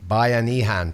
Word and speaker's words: Bayanihan: Let's let Roann pronounce the word. Bayanihan.